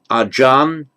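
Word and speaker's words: อาจารย์: So acharya, we get the word ajan, as a respectful term of address to a senior monk, is ajan. That's the same word, acharya, means teacher. So it's just the Thai pronunciation of the Sanskrit acharya or the Pali acharya.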